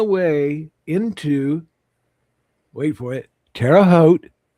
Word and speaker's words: Terre Haute: Terra Hote. Rhymes with boat.